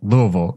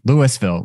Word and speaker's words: Louisville: The visitor center has Louisville, Louisville, Louisville. It has like all the different pronunciations around it.